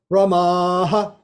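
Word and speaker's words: Ramaḥ: Then we've got Ramaha. Dirgha Akara is at the end.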